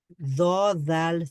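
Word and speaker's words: ضاد: এটা জ আর দ দুইটার মাঝামাঝি উচ্চারণ হবে, মানে জিহ্বার গোড়া, মানে সরি, জিহ্বার একটা সাইড আপনি উপরের মাড়ির দাঁতের যে কোনো একটা পার্শ্ব, ডান পাশ অথবা বাম পাশের মাড়ির সঙ্গে জদ, একটু লাগান, লাগিয়ে উচ্চারণ করেন, তাহলে দেখবেন যে এটা উচ্চারিত হয়ে গেছে।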